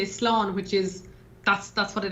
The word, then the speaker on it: Slán: Slán. Slow? Oh, there it is. Slán. So you say sláncha when you're going to raise a glass, and then you say slán, which is, that's what it is for goodbye.